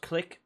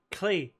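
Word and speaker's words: Klich: And then Click, which I want to say, apparently it's not pronounced Click or Klitsch. Apparently it's Klee.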